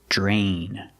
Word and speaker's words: drain: We see dr together. It makes the Jj sound like jump and juice. J plus the R. J drain.